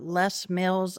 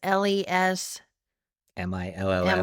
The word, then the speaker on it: Les Mills: Yeah, I've just been doing the less meals. I guess we've been trying to figure out how to say it. It's LES MILLS.